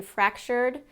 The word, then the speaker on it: fractured: if you say there's two vowel sounds in that last syllable in fractured but the E doesn't get a pronunciation in it fractured so one vowel sound